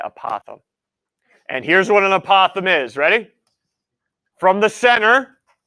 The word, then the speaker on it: apothem: o th e M apothem apothem not a possum apothem okay apothem and here's what an apothem is ready from the